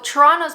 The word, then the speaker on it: Toronto: it truly is so toronto's population i'm from ontario toronto that's the proper way to say it by the way toronto's